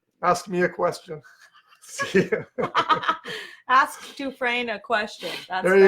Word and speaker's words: Dufresne: So my name is spelled Dufresne. The S is silent. Most people say Dufresne, which is phonetical, but it's pronounced Dufresne. There is no hyphen in it. It's Dufresne.